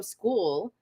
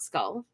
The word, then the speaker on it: Scull: We just saw Canelo and William School. That's how they were pronouncing it, not Skull. I guess you could pronounce that. I guess it's pronounced like that if you're in North America.